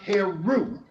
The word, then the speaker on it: Heru: She gave birth to her son, whose name is spelled Heru and pronounced Heru.